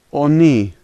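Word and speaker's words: они: The first letter O is pronounced as an O, the second letter H is pronounced as an N, and the last letter E. And so this word is oni, oni.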